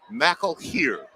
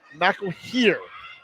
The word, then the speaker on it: McElhere: scrimmage, and looks like McKellar just threw that one away. I've got a comment from Emily saying that the Eastside Catholic's quarterback's name is pronounced McElhere. McElhere.